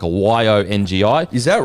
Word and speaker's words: Yongi: So, it's I I got told by two people it's pronounced Yongi, like a Y O N GI.